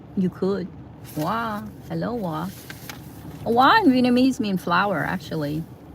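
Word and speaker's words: Hoa: Wa in Vietnamese means flower, actually, but not spelled W-A. It's spelled H-O-A. It means flower, but it's pronounced like W-A, like Wa.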